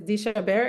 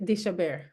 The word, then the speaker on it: deChabert: it's just that it's deChabert. It's a French name, so that's the French pronunciation, deChabert.